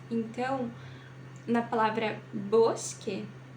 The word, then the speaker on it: bosque: fazer a aspiração desss então eu pronuncio Bosque Bosque mas há muita gente que pronuncia bque Ok vamos lá agora